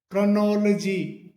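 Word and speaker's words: chronology: ओ एल ओ जी वाई जिसे हम सामान्यतः क्रोनोलॉजी करके बोलते हैं क्रोनोलॉजी जबकि इसका सही सही जो प्रोनाउंसिएशन होता है वो क्रोनोलॉजी क्रोनोलॉजी क्रोनोलॉजी कर करके होता है।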